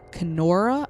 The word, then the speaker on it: Kenora: here and there of windigo apparently up in kenora i believe is how you pronounce it by the way so sorry if